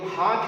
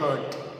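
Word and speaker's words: heart: ये हार्ट है, आमतौर से ये जो हार्ट है ना, इसको हम पढ़ते हैं हर्ट। दिल हमारा दिल, तो ये हर्ट नहीं है, इट इज हार्ट, इट is chicken हार्टेड। तो remember this, we always mispronounce it.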